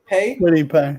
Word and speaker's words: Kwity Paye: This is how do you pronounce that? Kwity Paye? Kwity Paye, yeah.